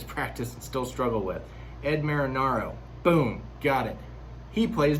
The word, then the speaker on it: Ed Marinaro: lefford as grace i have to stop to pronounce this name properly it's ed marinaro that's one i have to practice practice practice and still struggle with ed marinaro boom got it he plays bill uh robert